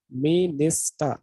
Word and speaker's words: minister: a particular syllable but in terms of the english word that is me nista there are three syllables and one of the syllables will be stretched or accented okay you got it